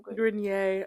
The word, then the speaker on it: Grenier: Grenier. Grenier.